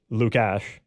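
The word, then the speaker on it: Lukáš: It's Lukash, like Lukash, so the the little U above the S, I guess, makes it more of a sh sound, because excuse me.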